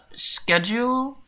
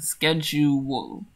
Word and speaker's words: schedule: We've got schedule, and schedule. Okay, so not schedule, but ske. Okay. So I have a friend who pronounces it schedule, which is a sh sound instead of a sk sound.